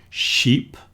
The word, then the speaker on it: sheep: Sheep. Sheep is the animal with a shh at the beginning and a long e.